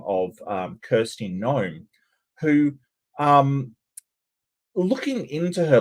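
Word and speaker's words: Noem: of Kirsty gnome um it's not spelled like you know small people that that bubble gum gun uh thinks exists but it it's it's a right-wing politician under the name of gnome n OEM um hello everybody hello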